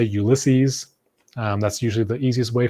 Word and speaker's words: Ulysses: If you're Spanish, you might say Ulises. I usually just say Ulysses.